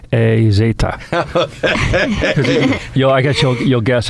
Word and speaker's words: Hez: find out h-e-z or it's in Spanish it's Ace yo I guess you'll